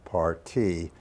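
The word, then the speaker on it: parti: the program a party spelled PA RTI that pronounced party is an architectural term could be anything from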